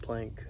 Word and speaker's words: planche: It's spelled like planche, but it's called plank. It's weird.